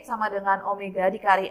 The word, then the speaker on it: omega: Kecepatan sudut itu lambangnya adalah nih, seperti ini, bacanya adalah omega. Ya, omega.